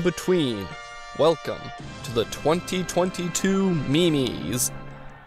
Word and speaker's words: Me-Mes: welcome to the 2022 Mimi's yes it's pronounced Mimi's it's like MiMi Big Boy 2022 had